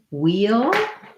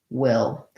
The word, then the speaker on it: we'll: When we have wheel has the same pronunciation as the word wheel, gets reduced to will.